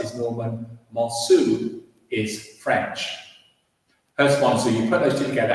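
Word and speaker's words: Herstmonceux: So if you're pronouncing it sort of correctly, you would say Hurst, Monceau or something like that. The Sussex pronunciation is Hurst Monceau. Okay, that's the way the locals pronounce it. So that's what we use. Hurst Monceau is the way to pronounce it.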